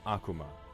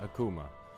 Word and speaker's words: Akuma: have to wait so my name is Vox Akuma not Akuma I pronounced it wrong myself sometimes we'll just be